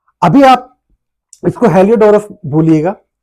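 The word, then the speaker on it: Heliodorus: से नहीं आपको जूझना है स्पेलिंग क्या थी स्पेलिंग क्या नहीं थी अभी आप इसको हेलिओडोरस बोलिएगा तो हेलिओडोरस जो था वो एंडल किसका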